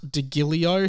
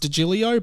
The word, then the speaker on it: DiGilio: to our producer Pat degilio he says it's pronounced digilio but I don't care it's Pat degilio um who has done